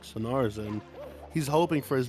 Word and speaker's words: Sunnard: It is pronounced Sunnard, as they made it apparent yesterday, because we were having a debate on how to pronounce it.